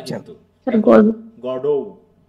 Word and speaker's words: Godot: Syllabus like English does, so in French it would be a flat গডো।